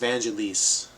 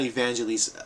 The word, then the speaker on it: Vangelis: uh you know he's better known as just vangelis not evangelists evangelists and he worked with john anderson from yes so if you're a yes fan you might have heard of vangelis just maybe uh the